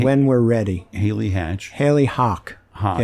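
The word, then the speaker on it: Hach: Haley Hawk. Yeah, it's pronounced Hawk. Oh, I know you've only seen it. Haley Hawk. But Haley it's Hawk.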